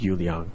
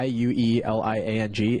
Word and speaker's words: Yueliang: So how that's spelled, Yueliang, is literally the pinyin spelling of the Chinese word for moon, and it would be I believe it's Yue Liang.